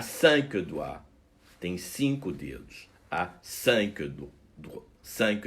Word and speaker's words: doigt: chaque pied à cinq doigts insync audi a5 douvres cinq doigts on prononce de la même manière doit au singulier au pluriel un doigt de doigts